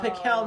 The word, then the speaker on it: Piquel: And they're- Oh, Piquel, not pickle. Pickle. Yeah. yeah, okay, it's not yeah. pickle; it's pronounced Piquel.